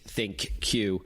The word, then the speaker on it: ThinQ: the key differentiators between the LG g 8 think cue and other devices and thank you we should tell our listeners is spelled thi n cue and that's a name